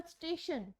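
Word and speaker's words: station: Example स्टेशन, स्टेशन word आपको यूज करना है TION, तो स्टेशन प्रोनाउंसिएशन होती है TION की शन के नेम से।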